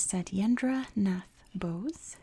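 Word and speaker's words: Satyendra Nath Bose: coins born on this day in 1894 was said yendra Nath Bose that's how you say it mathematician and physicist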